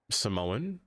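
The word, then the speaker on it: Symoné: Raven Simone, their name is pronounced Samoan. Only pronounce it Simone because it's easier for Disney.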